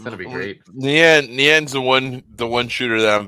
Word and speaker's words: Nyan: But technically, it should be Nyan, which is the Japanese word for meow.